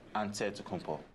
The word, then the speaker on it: Antetokounmpo: how you pronounce it the nigerian way you gotta say with the d so it's but in the greek way you say with the nt like antetokounmpo whatever you got just say